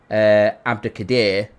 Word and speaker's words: Abdukodir: He's confirmed that his name's pronounced Abdukodir.